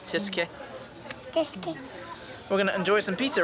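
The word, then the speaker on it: Tyskie: that it's polish tisky I said I said Thai ski but it's tiske we're gonna enjoy some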